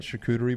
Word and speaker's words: charcuterie: some uh butcher blocks uh cutting boards right charcuterie boards how do you say it yeah you